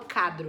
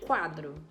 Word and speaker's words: quadro: então por exemplo na palavra quadro quadro eu escuto o barulho do u eu não falo cadro eu falo quadro então se eu estou